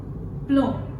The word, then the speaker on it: plomb: Plomb. Here, B is silent.